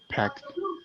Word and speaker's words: packed: Packed. Packed. It sounds like a letter T at the end.